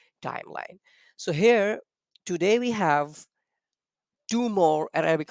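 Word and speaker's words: ح: They are pronounced by the center of our throat, middle of our throat.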